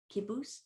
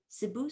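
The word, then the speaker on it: cibus: Kibus, kibi, food. Or if your C's are pronounced s, sibus, sibi, food.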